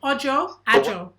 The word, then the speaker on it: Ojo: much about wale agile audio how do you pronounce your last name ojo no joe oh it's a whole host of